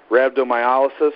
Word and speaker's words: rhabdomyolysis: also I know that you had rhabdomyolysis is that how it's pronounced yes yeah most people just call